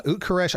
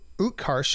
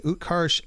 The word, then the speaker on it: Utkarsh: who i thought was absolutely uh fabulous uh quresh i always get his uh utkarsh i'm sorry utkarsh m ambudkar i always get his last name